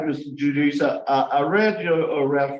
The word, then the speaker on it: Judice: but he wants to give you the correct pronunciation it's Jud say it again however you like it's judice judice okay okay judice Jude judice okay I have